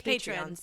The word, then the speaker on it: Patreon: Patriot runes oh yeah ever figure out how to say it it's patreon patrons patrons yeah and so